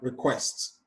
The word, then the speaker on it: request: And for request, the stress is on the second syllable.